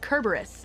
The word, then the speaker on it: Cerberus: Hey, did you guys know that Cerberus isn't pronounced Cerberus? It's pronounced Kerberus in the original Latin.